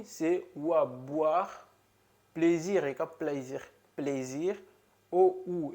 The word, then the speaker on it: boire: Exemplo, boire.